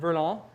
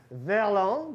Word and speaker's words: Verlan: Am I saying that Verlan? Verlan, but you could also pronounce it Verlan.